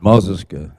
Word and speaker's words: Mazis: Mazis, that means silver in our people's language, because when they dealt with the United States, they didn't deal with gold; they dealt with silver. And Mazis is how you say that.